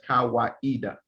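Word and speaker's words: Kawaida: swahili word meaning tradition and reason it is pronounced as kawaiida he defines kaweda as a communitarian african philosophy created in the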